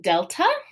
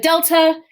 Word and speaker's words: delta: And delta is, in classical pronunciation, it's more of that D sound. I believe in modern Greek, it's more of a the. It's like a hard, almost TH sound, more so than a D.